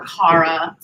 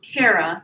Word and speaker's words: Kara: or Karen or Cara. So I made sure to remind folks how to pronounce my name to set the record straight up front. By the way, it's Cara, like I care about you.